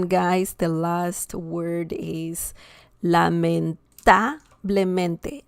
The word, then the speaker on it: lamentablemente: And the last one, guys, the last word is lamentablemente. Lamentablemente. Lamentablemente. And that means unfortunately. Okay? Lamentablemente. We see the stress here. Super stressed syllable. And this was 1, 2, 3, fourth to last.